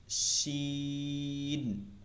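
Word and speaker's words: شين: Scene, শিন, হ্যাঁ, শিনে আরো বাতাস হবে, শি, শিন।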